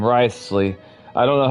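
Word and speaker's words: Wriothesley: So, that's how you pronounce his name. Risley. I don't know how I was pronouncing it earlier, but I was pretty sure I was butchering it. Risley.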